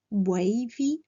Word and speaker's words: wavy: Straight hair, wavy, donc c'est ondulé, ou ça vient du mot wave qui veut dire une vague, donc attention, wavy à la prononciation du A, wavy.